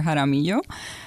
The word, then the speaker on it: Jaramillo: Some of them, if they're more well-versed in Hispanic pronunciation, they can call me Dr. Jaramillo.